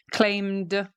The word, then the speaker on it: claimed: Claim, m. I pronounce the M at the end. I'm engaging my vocal cords. Claimed, d, claimed. File, filed.